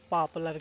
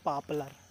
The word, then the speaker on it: poplar: नॉट मतलब इसको pronounce करते हैं पापलर, PAPLUR। आई एम not sure कि स्पेलिंग सही है कि नहीं है, पर ये पापलर के पेड़ है। हिंदी में पापलर बोलते हैं, पापलर नॉट पॉपुलर।